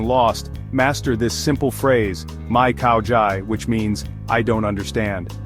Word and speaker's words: Mai Khao Jai: Let's break it down. Mai means no, and is pronounced just like Mai. Khao Jai means understand and sounds like Khao Jai with the emphasis on the second syllable.